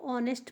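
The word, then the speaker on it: honest: अगला page N ओ एस ई टी को ऑनेस्ट पढ़ते हैं ऑनेस्ट ऑनेस्ट का मतलब होता है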